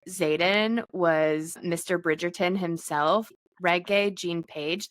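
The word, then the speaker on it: Regé-Jean Page: Bridgetgerton himself, Reggae Jean Paige. That's how you actually say his name is like reae. Um, which Kirsten and I kept calling him Renee Jean Paige the whole time.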